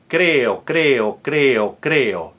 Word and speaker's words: creo: So it's not it's not it's in all of those cases after consonant you flip you don't roll practice creo not creo no roll. Another example very important m